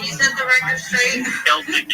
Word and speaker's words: Celtic: Celtic is the proper way to pronounce it.